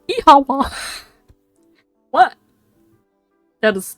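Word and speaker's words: Oíche mhaith: The Irish for good night, when I pronounce it is Ihawa.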